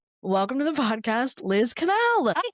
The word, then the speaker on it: Quesnelle: It's actually pronounced Canel. It doesn't look like that, but yeah, it's pronounced Canel, but I answered pretty much anything.